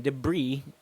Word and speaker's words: debris: is debris clearance and let's pronounce that one more time again debris not the bris so you've got a silent s there now when we